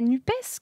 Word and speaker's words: NUPES: Ok, et tu prononces comment, toi? Moi, je dis NUP. NUP. Mais au bout d'1 an, il y a beaucoup de questions encore qui se posent malgré le premier anniversaire de la coalition. La prononciation en fait partie, mais c'est vrai que voilà, nous on dit NUP, en tout cas au